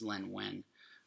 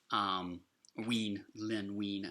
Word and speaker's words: Len Wein: That was Len Wein. Len Wein, I believe is how you pronounce that name, actually.